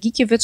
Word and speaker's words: Gikiewicz: Und er hat gesagt, Mensch, wie wird denn der Name ausgesprochen? Und da hat er dann irgendwie gesagt, Gikiewicz.